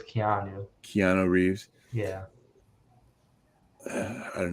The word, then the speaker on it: Keanu: hear something about that I always want to say canoe but I know it's Keanu Keanu Reeves yeah I